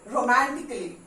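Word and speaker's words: romantically: तो अल्फाबेट ए, जब भी एली, कोई भी वर्ड्स एली होता है, ALLY, ओके, जैसे रोमांटिकली, लॉजिकली, तो यहाँ पे जब होता है तो हम ए प्रोनाउंसिएशन नहीं होती है, ए को हम नहीं करते.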